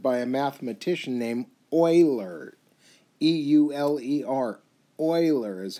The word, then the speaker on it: Euler: actually was discovered by a mathematician named euler e-u-l-e-r euler is how it's pronounced so he thought highly of himself and